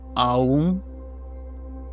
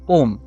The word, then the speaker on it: Om: Sadhguru says it should be Aum. Swami Tadatmananda says Sanskrit grammar turns A and U into O, so it should be pronounced as Om.